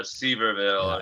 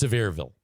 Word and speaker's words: Sevierville: I think it's Sevierville or Seaverville. Yeah, or something like that. That's actually pronounced Sevierville. Is it? Or Sevierville, as they say there, Sevierville.